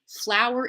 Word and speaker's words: flour: flowers and plants outside flour is also two syllables so is the word